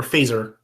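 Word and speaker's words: Feser: good I'm sorry Ed Edward fesser is is or phaser is probably a better way to pronounce it is a Scholastic Scholastic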